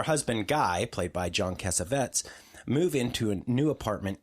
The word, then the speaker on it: Cassavetes: I think it's actually pronounced John Cassavetes, which is confusing because the character name is Cassavetes.